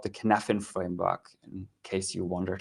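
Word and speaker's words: Cynefin: you have already seen it it's called the canaffin framework in case you wondered how to pronounce that and what is the kidnapping framework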